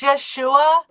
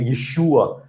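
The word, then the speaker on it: ישוע: think it's American accent we say Yeshua. No, that's a long a vowel. That's a long a vowel. So it's you you drag out that, right? You drag out the air vowel because it's long.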